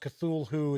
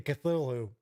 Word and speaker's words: Cthulhu: stuff and he's like well you know it's not really pronounced Cthulhu it's pronounced it's supposed to be something that you can't really pronounce with the human tongue but it's something like - hoo hoo I was like oh